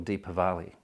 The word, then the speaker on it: Deepavali: then there was uh Diwali or deepavali uh or Diwali depending on how you want to pronounce it deeper Valley which is the uh